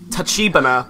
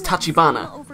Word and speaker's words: Tachibana: For the longest time, I thought it was Sakia Tachibana, but no, it's Tachibana.